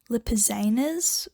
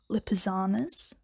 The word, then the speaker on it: Lipizzaner: The third horse that I think Star Stable should update are the Lipizzaners or Lipizzanas, I think. The pronunciation actually depends on if you're British or American. I did actually check that.